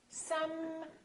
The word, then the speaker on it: sometimes: So take your time and fully pronounce the continuant. So I want you to say sometimes, sometimes. Don't say sometimes, sometimes. A lot of people rush through the continuants and make them too short.